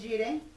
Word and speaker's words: Jireh: ¿Cómo se escribe el Jireh, dijiste? J-I-R-E-H.